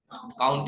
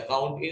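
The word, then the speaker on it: COUNTA: Working day निकालेंगे, हाँ काउंट ही लगेगा कि वो लगेगा, काउंट का लगेगा, काउंट के। लोग काउंटा भी बोलते हैं इसको, काउंटा या काउंट ए बोलिए, जैसा आपका प्रोनाउंसिएशन सही लगे।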